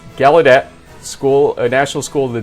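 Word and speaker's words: Gallaudet: ainson at uh galet the U is completely silent and so when we pronounce it it's gadet School National School of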